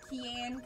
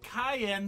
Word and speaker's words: Cayenne: you say it cayen Keen Cayenne like the pepper looks like ke actually ke it's always without it looks like ke but it's actually pronounced like Cayenne the pepper knew it or like